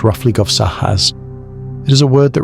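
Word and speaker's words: guovssahas: In Sami languages, the aurora is often called guahas, pronounced roughly govsahas.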